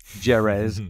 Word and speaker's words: Jerez: I mean, once we get to Jerez, as some of the Italians call it, Jerez. Everyone pronounces Jerez in a different way.